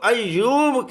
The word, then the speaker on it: ایوب: کا جو لفظ ہے یہاں پر انگریزی میں لکھتے ہیں AYUB، ایوب، حالانکہ یہ جو ہے مشدد ہے، اس کو ایوب کہنا چاہیے، AYOOB اس طرح لکھنا چاہیے۔ پھر آگے چلتے